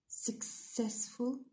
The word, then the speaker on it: successful: دونك هنا عندنا success راهو successful س راهو on the second syllable.